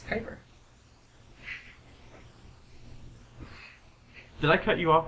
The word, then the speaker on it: Kuiper: to pronounce it so I've always just said Cooper because I assumed it was some Dutch form of convert that's Kuiper did I cut you